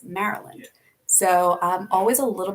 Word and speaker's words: Maryland: in the states and it looks like it would be pronounced Maryland no it's Maryland so I'm always a